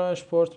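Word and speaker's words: Sport: شپورت به معنی ورزش چرا ما این رو اشپورت می‌خونیم چون که گفتیم اگر بعد از s پ بیاد هم اس صدای ش میده خب و آخرین حرف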